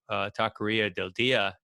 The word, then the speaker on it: Taqueria del Dia: that and you know i think the taco taqueria del dia is that how you pronounce it yeah that's right that may be